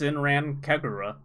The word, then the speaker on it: Senran Kagura: Battle, Metroid Samus Returns, It's Zen- it's pronounced Sinran Kagura. Senran Kagura, Peach Uh-huh.